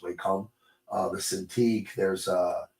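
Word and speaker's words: Wacom: There's uh Whackom should be pronounced way com uh the Cintiq.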